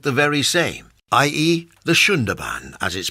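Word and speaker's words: Sundarbans: view to promote the very same ie the shunda ban as is pronounced although you might want to call it Sun Durban as spelled this is a very large mangrove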